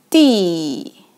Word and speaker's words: 地: It pronounced as 地.